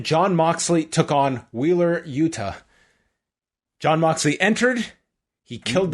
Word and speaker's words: Yuta: when you see Yuta, it's a hard T rather than the soft T like in Toronto? I say Yuta. Yuta. What's a soft T? What's a soft T? Well, like Yuta, like pronouncing like a D.